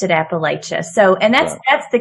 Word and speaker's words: Appalachia: would say well my my preferred pronunciation is Appalachia it just feels more courageous and and as I understand it it is closer to the root word which is comes from